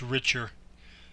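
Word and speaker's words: RICHR: it's Richard shoot meant to look that one richer and that's it it's uh under the P if you go straight down there's a star on that line is RI CH r so it's pronounced richer so I can tell them go direct which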